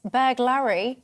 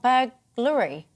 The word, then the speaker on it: burglary: to pronounce the word it's berg larry not burglary ah okay ken thanks